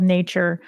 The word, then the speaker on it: Natuur: I've got a client that's got a couple concepts down there called Nature. It's spelled Natuur.